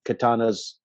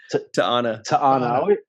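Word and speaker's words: T'Ana: try to get on Katana's good side, right? Did I say it right? Ta'ana. Yeah. I always say Katana.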